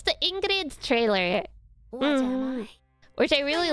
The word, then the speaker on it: Ingrid: You don't really pronounce the D though. It's Ingrid. Like in Norwegian, the D is silent.